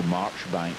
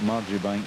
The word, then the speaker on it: Marjoribank: And I always remember he was in Bathgate and Marjoribank Street, or Marchbank Street as the English pronounce it, but Marjoribank Street in Bathgate.